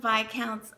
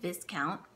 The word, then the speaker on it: Viscount: and then you have by accounts oh okay you don't pronounce the S if you pronounce the